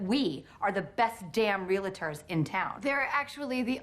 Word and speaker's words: realtor: promise you that we are the best damn realtors in town they're actually the only realtors in town because the rest of us pronounce it realtors yeah that's what you said